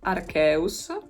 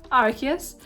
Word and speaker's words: Arceus: Arceus, which I always pronounce as a kid Arceus. Very Italian of me, I know, but now I know that it's pronounced Arceus.